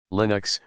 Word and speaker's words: Linux: linus torvalds 1970 and the unix operating system linux pronounced with a short eye is an open source